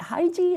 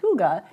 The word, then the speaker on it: hygge: everyone's like is it high G is it how do you pronounce it but it's actually pronounced ooga and it's a Danish concept of life and wellness and well-being and how do you